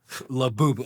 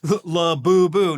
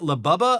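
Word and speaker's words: Labubu: Laboo. Okay. Yeah. Laboo. Not Lab. Not Not Labubba.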